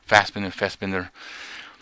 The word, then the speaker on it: Fassbender: two Steve Jobs movies, Ashton Kutcher and Michael Fassbender, is how you say his name? Fassbender.